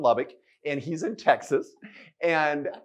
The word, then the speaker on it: Lubbock: Rosalie's like, wacko and Lubique. I love it. That's good, Rosalie. For those in Texas, yes, Rosalie just butchered your town. It's Waco and Lubbock, and he's in Texas.